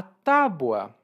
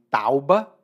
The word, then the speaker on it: Tábua: martelo prego e tábuas a Tábua que às vezes as pessoas pronunciam de maneira errada e dizem tauba quando eu era criança eu falava também assim mas a Tábua é